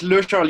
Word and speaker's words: lecharles: At Le Charles, you actually said it fine. You pronounced it correctly.